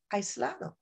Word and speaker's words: aislado: For me, when I see AI, it says I. Aislado, right?